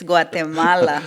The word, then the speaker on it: Guatemala: So is it, I've heard it pronounced two different ways. Is it Guatemala or Guatemala? Okay, Guatemala. okay. It's Guatemala.